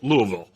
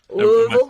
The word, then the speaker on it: Louisville: I was told Louisville. Louisville? Am I saying it right? Louisville? Like you got a little mud in the mouth.